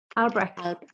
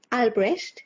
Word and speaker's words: Albrecht: Albrecht. Albrecht, yes, Albrecht. It's a German name.